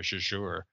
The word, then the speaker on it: Azure: the the J sound the question is whether we would accent the the first syllable or the second one Azure or jure so well you say Azure and you work at Microsoft so we're rolling with that it's done all right